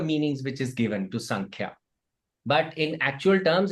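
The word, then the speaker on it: सांख्य: It is actually pronounced as Sankhya, because Sam and Kya in Sanskrit, according to the rules of Sanskrit, when the Sandhi happens, so because the next word is Ka, no?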